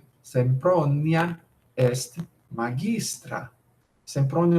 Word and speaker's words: Sempronia: Em latim, isso não é um ditongo, isso é um hiato. Aqui tem 1, 2, 3, 4 sílabas. Sempronia.